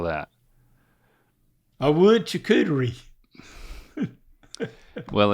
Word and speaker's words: charcuterie: That's charcuterie.